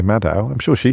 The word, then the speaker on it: Maddow: Rachel Maddow, who is a brilliant broadcaster in the United States of America, still hanging in there.